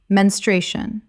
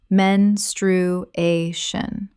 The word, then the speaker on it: menstruation: aneurysm aneurysm Word 65 menstruation. Common mispronunciation, men-stru-a-tion. Correct pronunciation, men-stru-a-tion. The stress falls on the third syllable, a.